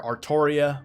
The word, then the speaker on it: Altria: how in fake go a saber's name is spelled altria when everyone like in english calls her artoria but whatever let's get